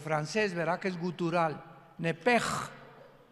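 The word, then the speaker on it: נפש: Pero la sh en hebreo se pronuncia como J. Entonces se pronuncia nep como el francés, ¿verdad? Que es gutural. Nepej.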